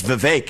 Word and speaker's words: Vivek: I say, my name's Vivek. It rhymes with cake.